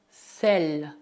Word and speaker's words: sel: Neste caso, mesmo que não haja acento grave no E, devemos pronunciá-lo E. Le sel, le sel, le sel.